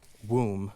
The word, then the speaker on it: womb: You have words like um womb which rhymes with room but not with comb or laughter which rhymes with after but not with daughter.